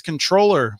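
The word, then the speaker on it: comptroller: going to talk about the Texas controller which is how I say comproller the word that everyone else mispronounces the Texas controller and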